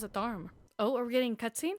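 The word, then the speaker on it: Tharum: Oh, they pronounce it Tharm.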